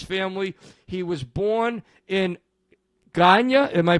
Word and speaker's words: Guyana: He was born in Guyana. Am I pronouncing it correctly? Guyana. Guyana.